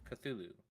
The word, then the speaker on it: Cthulhu: So, like Cthulhu, uh, you know, there's no vowel in between the the C and the th and the th.